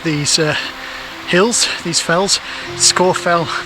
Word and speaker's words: Scafell: pronunciation of the name if you actually look at old ordnance survey maps it used to be spelt s-c-a-w so score fell and uh in carlisle